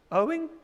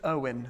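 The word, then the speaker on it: Eoin: on this one and it's just owen apparently is how you say it right question number four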